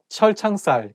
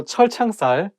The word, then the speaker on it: 철창살: So 철창살, it also has two CH sounds, so it should be not easy to pronounce.